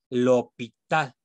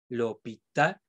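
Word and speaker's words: L'Hôpital: pronuncian esto de acá el nombre de este matemático se debe decir lo pita porque porque la la tónica siempre a la última entonces voy a acentuar la lobita y esta s de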